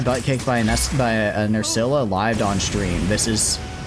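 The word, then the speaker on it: Nerscylla: Wait, it's pronounced Nurcilla.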